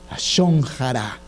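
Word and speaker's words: לשון הרע: La Shonjara. Shonjara. Acuérdenselo por lechón.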